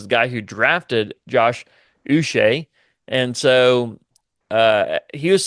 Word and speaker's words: Uche: oh here it goes his pronunciation is us so Josh us okay glad we got